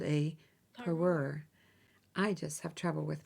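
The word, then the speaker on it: parure: have trouble saying it it's spelled p a r u r e per but I'm not sure if it sounds right to you but but a vintage three-piece jewelry set is called a peror I just have trouble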